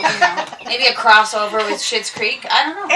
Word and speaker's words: Schitt's: you know, maybe a crossover with Schitt's Creek.